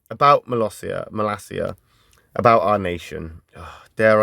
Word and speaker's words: Molossia: They're pronounced Molossia. So I was right. When I said Molossia, I was right with Molossia.